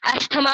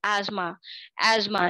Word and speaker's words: asthma: अस्थमा बोलते हैं लोग इसको, ये जो डिजीज होती है जिसमें आपने, आपको पता ही होगा सबको इस डिजीज का, अस्थमा लोग इसे प्रोनाउंस करते हैं. The correct pronunciation is एज्मा.